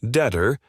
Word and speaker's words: debtor: And you just called the lender the debtor. Not only are you wrong, but the B in debtor is silent, you dumbass.